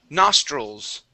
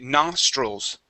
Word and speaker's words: nostrils: word here is pronounced nostrils okay so the i l okay we pronounce that more like a UL stroll okay nostrils nostrils good one more